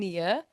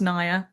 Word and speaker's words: Nya: And welcome to Kim and Nia to this beautiful episode. Hi. Hello, hello. Oh. I was just gonna say it's pronounced Naya.